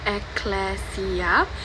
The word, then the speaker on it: ecclesia: It is pronounced as ecclesia, and the original meaning of church is it is a gathering of a community or people for religion purposes.